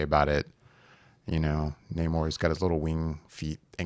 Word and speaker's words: Namor: I like how much Namor. That is how you say his name, right? Namor, yeah.